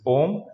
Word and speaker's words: ohm: O H M, ohm. Okay, it is pronounced.